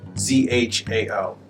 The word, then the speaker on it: Zhao: Which leads nicely to one of the next more common names, which is Zhao. Z-H-A-O. Zhao. Yeah, Bob really did a good job. It's Zhao. Okay, fourth tone, Zhao.